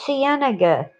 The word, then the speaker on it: La Cienega: we have this street in los angeles los cienega c-i-e-n-e-g-a cienega if it floods every winter when